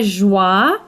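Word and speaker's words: Joie: this white Gauzy peasant top and it's by joy j o i e it's pronounced Joy it's sold at places like Nordstrom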